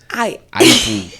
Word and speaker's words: Eiffel: The Eiffel. Eiffel, like rifle.